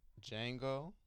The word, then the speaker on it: Django: so his name is django django deguchi wait wait but it's pronounced Django like Django the movie like Django Unchained hold up hold up